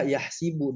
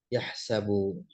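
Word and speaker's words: يحسب: Nah, kalau dari sisi kiroat, ada kiroat yang membaca yahsibu dengan mengkasrohkan sinnya. Kalau kita bacanya ya yahsabu, ya. Nah, yang membaca dengan fathah, yaitu sama seperti bacaan kita, tentu bacaannya Imam Asim, ya.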